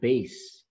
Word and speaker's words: bass: we will pronounce it bass like the bass in your car boom boom boom okay bass clef so